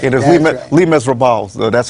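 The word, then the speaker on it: Les Misérables: That's how they pronounce it in the language in French. It's Les Miserables.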